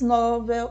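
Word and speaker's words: Nobel: acentuação tônica dos fonemas são oxitonas novel novel recém Sutil viu que pela pelo automático quase saiu uma uma paroxítona né quando na verdade é uma oxítona a palavra novel são paroxítonas rubrica novamente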